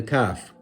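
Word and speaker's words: ك: The kaf is pronounced also from the back of the tongue, but not as far back as the qaf, a little to the front of the mouth when touching the palate.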